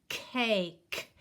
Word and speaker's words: cake: So this is the word cake. And remember, the E is silent.